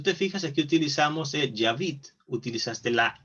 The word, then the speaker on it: j'habite: Nada más recuerda pronunciarlo también para que te vayas acostumbrando a que el sonido de la e al final no tiene sonido, ¿sí?